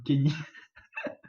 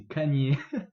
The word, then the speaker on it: Kanye: Par contre, tu risques d'en perdre pour avoir dit Kanye West et d'avoir écrit ça comme Kenny alors que c'est Kanye et ça s'écrit Kanye.